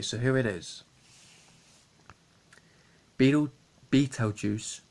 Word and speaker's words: Beetlejuice: crazy hair okay so here it is beetle Beetlejuice pronounced Beetle Juice like as the beetle is a